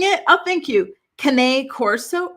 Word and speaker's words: Cane Corso: Cane Corso. Really? I thought it was King Corso. They're Italian dogs. Cane. Like cannoli? Like that?